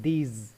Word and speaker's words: these: Okay, pronunciation में थोड़ा सा चेंज है, इसको हम दिस बोलते हैं और इसको बोलते हैं दीज। ओके, ज आता है।